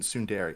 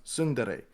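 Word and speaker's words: ツンデレ: speed so like like we'll say tsundere but it isn't tsundere it's sundare Japanese don't enunciate their syllables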